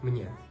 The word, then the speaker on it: mě: конструкцією мне Та конструкцією мне Як ви вже зрозуміли у вимові такої різниці не існує Але існує на письмі